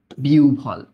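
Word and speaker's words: বিহ্বল: এটার উচ্চারণ কি জানো এটার উচ্চারণ কিন্তু বিভব বল না বিউল হ্যা বিউভল হইয়া কান্ড কান্ড ভালোমন্দ জ্ঞান হারাইয়া না ফেলা।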